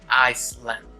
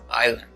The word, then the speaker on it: island: it is because uh we as spanish speakers use the s sound very often letting us pronounce the word as iceland instead of island uh why is the s sound silent in this world well that's part of